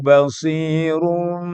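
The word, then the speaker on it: بَصِيرٌ: Wallahu basirum bima ya'malun. Basirum. Orang kadang-kadang kalau lagi buru-buru atau bacanya tidak fasih, tidak ditahan. Itu jadi bacaan iqlab. Wallahu basirum bima. Nah, itu namanya nggak ditahan.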